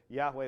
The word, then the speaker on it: Yahweh: 3,000 years but yhwh it probably originally was pronounced something like Yahweh um but their reasoning